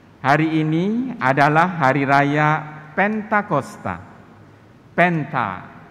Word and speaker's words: Pentakosta: Pentakosta. Iya. Bukan Pantekosta ya, bukan. Pantekosta itu pengucapan lidah orang Indonesia yang kadang memang susah diatur ya.